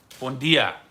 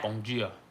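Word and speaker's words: bom dia: That's one difference from Brazilian Portuguese and Portuguese is in Brazil all the D turns to G.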